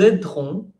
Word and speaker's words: aiderons: Nous aiderons, recuerden que esa E puede desaparecer, por eso yo no la pronuncio. Yo vivo en París y aquí casi no la pronunciamos. Nous aiderons des adultes et des jeunes à exprimer leurs émotions.